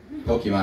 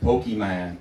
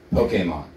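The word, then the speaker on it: Pokémon: the 90s was pokemon pokemon i pronounced that properly somebody with pokey man like no pokemon okay and the main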